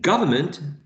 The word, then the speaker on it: government: blue Oh an englis is stressed in government your voice is stressing this first syllable god government and these